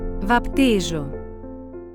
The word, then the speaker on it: baptízō: This is how this word is pronounced. Bapture.